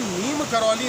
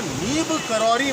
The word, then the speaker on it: नीम करौरी: करौली महाराज कहते हैं, वो बाबा नीम करौली नहीं होके बाबा नीम करौरी महाराज थे, जिन यहाँ पर इनके बहुत अनुयायी जो थे, विदेशों के भी थे, जिनका प्रोनाउंसिएशन उतना अच्छा नहीं हो पाता था, तो वो नीम करौली नाम पड़ गया।